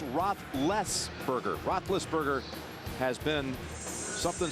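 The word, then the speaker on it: Roethlisberger: this Young upstart quarterback it's not rothberger as everybody's been pronouncing it it's Roth leberger Roth leberger has been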